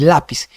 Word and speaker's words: lápiz: ¿Es lápiz o lápiz? No, por eso no es lápiz, es lápiz. Lleva tilde porque termina en Z.